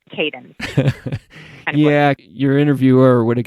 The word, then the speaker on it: Kadin: would be able to push that so it's cadence yeah your interviewer would have got that one